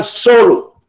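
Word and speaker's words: sólo: la observación, el azar solo, con acento en la primera O, favorece a la mente preparada.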